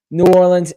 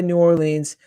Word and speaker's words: New Orleans: I don't know how I say it because sometimes I'll say New Orleans, sometimes I'll say Orleans. I haven't chosen. Apparently the locals say New Orleans, so that's what I like to go with, but teach their own, I guess.